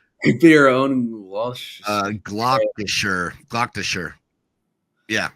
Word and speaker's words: Gloucestershire: Gloucestershire. Yeah. Gloucestershire.